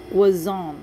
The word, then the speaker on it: croissant: Unang ilam, ang mga breads, may ang mga wazon. Wazon pala pag-pronounce.